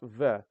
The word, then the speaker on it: В: it does look like it looks a lot like a B I mean this this looks like a b but it's pronounced ve but I will say